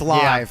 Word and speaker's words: Liv: Are you saying it right? It's live.